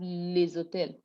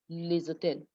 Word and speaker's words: les hôtels: When the word is alone, les, you don't pronounce the S. The S is not pronounced. That's liaison. But when you have with a non-aspirated H, the S is now pronounced, but it gives a Z sound. So we have les hôtels, les hôtels.